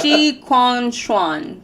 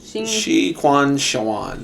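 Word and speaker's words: Shi Qingxuan: Shi Quan Xuan. Shi Quan Xuan.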